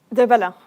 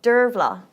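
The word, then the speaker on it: Dearbhla: Derbella. Is it good? Kirby, what do you think? Derbella. Close enough. Dervla. Okay, so the B is like a V.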